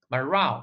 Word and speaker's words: morale: 精神，没有士气了。morale 这个词注意它的读